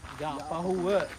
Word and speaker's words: Yapahuwa: How do you pronounce it? Yapahuwa? Yapahuwa. Yapahuwa. Yeah, not Pahu. You are Pahu.